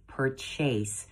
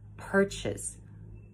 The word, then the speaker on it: purchase: perseverance please don't say purchase you're not chasing anything it's actually pronounced purchase purchase with the emphasis on per purchase if you prefer